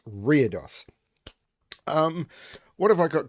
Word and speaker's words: Reredos: dos by FGM yes I had to look up the pronunciation of that one because I would have said ryridos but that is wrong it's weirdos um what have I